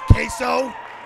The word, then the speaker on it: Queso: His name is Queso. Queso? Queso cheese dip. All right, hey, he walked into him charge. I mean, it's a charged championship match. Con Queso, if you so choose.